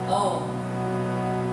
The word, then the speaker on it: Om: Om. Pranava, the cosmic sound. The sound that nourishes our nervous system and connects us to our essential nature. Let's try Om.